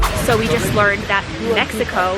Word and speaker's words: Mexico: we just learned that Mexico was actually originally pronounced meso when the Aztecs were here but then when the Spaniards came they didn't like the sh sound because it was a sound that a snake would make and that was evil